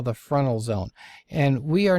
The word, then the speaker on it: Fresnel: that it looks like fresnel but it's actually pronounced frontal and something called earth bulge so let's take